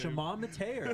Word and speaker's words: Shimon Mateer: Shimon Mateer. I watched the clip. I heard them say his name. That's how they said it.